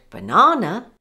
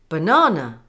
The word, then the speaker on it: banana: For example, in the word banana, that has three syllables. The second syllable, na, is pronounced with stronger stress, and the first and third syllables, which are weak, making it sound like banana.